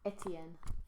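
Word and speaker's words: Étienne: what's important is that in English it really preserves its French pronunciation. And I just think in English it sounds really classy. Etienne.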